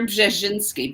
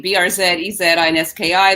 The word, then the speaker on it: Brzezinski: Sure, it's Brzezinski, B-R-Z-E-Z-I-N-S-K-I. There's three consonants together, so it's hard to pronounce.